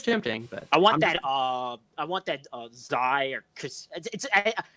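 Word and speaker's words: Xi: So it is tempting, but I want that Zai or I've heard it pronounced Kashi because that's how the Greek letter is said. yeah. But for now I'm saying Zai because that's how it's phonetically written.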